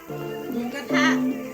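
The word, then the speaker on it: หมูกระทะ: Mukata.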